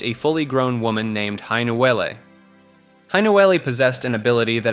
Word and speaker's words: Hainuwele: The myth centers on Hainuwele, pronounced Hainuwele, often called the Coconut Girl.